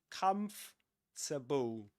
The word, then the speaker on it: comfortable: Remember comfortable? Where we don't pronounce the OR. So we say comfortable.